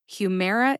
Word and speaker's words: Humira: match not a problem she just said Humera is just how it's pronounced okay lady I accept